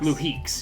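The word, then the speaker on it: Luhix: luek l u h iix l l or Lux oh yes I'm looking for a pretty good amount of how do you say pronounce it leeks yeah awesome kind like raises an eyebrow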